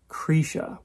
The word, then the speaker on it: Krisha: be kind of uh i think they they mostly pronounce it cretia which is a little i'm used to saying krisha i you know i